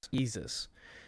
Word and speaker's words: Yeezus: Yeezus. Is it better than Jesus. Which Yeezus? one's Yeezus? The Yeezus is the one that's like a disc, right? yeah, yeah. I have not listened to Yeezus yet.